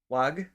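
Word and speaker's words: Huwag: I'm G to try wag so the H is silent wag pong please can I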